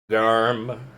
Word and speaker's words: Garm: Garm. Like a garment.